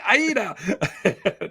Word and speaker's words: Aida: Aida.